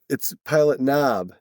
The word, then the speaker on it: Pilot Knob: No, it's Pilot Knob. Yeah, you do say Pilot hard.